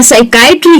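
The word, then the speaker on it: psychiatry: जब उसके आगे एस का स्पेलिंग हो, यानी कि पी एस अगर किसी स्पेलिंग में आप देखते हैं, जैसे कि साइकोलॉजी है या साइकिक है या साइकाइट्री है, ऐसे कोई भी वर्ड्स आप देखेंगे, ये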